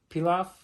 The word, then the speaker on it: Pilaf: All right, we got this one, the Emperor Pilaf. I think that's how you say it, like rice pilaf.